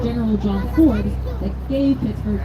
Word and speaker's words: Pittsburgh: it was brigadier general john ford that gave pittsburgh its name pittsburgh similar to edinburgh that's why pittsburgh has its h on the end if you want to